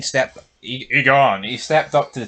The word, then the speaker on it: Aegon: I actually think Egan stepped Agon.